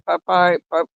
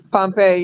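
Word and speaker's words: Pompeii: a church and in Papay. I can't say it. Pompei. Papey or whatever it is. Isn't it Pompei? Pompei. Yeah, there you go. I couldn't pronounce it right.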